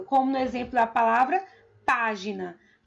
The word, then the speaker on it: página: no exemplo da palavra página. página. A primeira sílaba é o pá, que é uma palavra proparoxítono e por isso é acentuada.